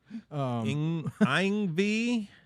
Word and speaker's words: Yngwie: Yngwie. Yngwie. Ingve, Sorry. Ingve, Malmsteen, we're going back to those.